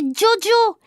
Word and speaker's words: Djodjo: l'appellera joujou non moi dit joachim il faut prononcer diodio tétouan diot hakim haddi maixent et la maîtresse